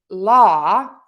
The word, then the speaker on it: law: One other little tidbit, the law, even though a lot of people spell that with a W, technically we don't say a W sound. I hear some of my students say la with a W at the end. There's no W extra there.